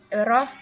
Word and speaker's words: rho: Rho dibaca ya. Lambang ini dibacanya itu Rho.